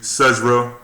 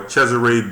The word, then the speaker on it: Cesare: they'll give it to cesra Borgia or cesare Borgia if you want to go buy the exact pronunciation they'll give it to